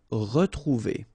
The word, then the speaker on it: retrouver: Okay, here, like that, without any accent, it's really pronounced like retrouver.